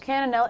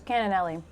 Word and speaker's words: cannellini: Cannelli. I'm adding a syllable. I was like so close.